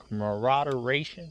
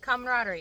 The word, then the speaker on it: camaraderie: of laughing joking corroboration camaraderation is that right camaraderie camaraderie you know excuse my